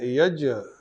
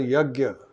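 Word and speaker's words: yajña: Yajna, people pronounce it as yagya, It is not correct. It is ja, ya, yaj.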